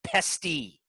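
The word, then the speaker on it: PESTE: It's pronounced PESTY. It's the acronym.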